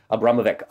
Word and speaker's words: Abramovic: to Marina AB can't I say her name Abramovic yes Abramovic um the another article in the times uh